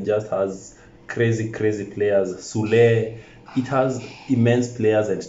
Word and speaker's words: Süle: Süle, ah, Bayern. So David Raum and Thilo Keller. Yes. That's how it's pronounced in Germany.